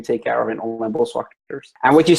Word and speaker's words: Boswachters: Online Boswachters, how I pronounce it, it's a Dutch word.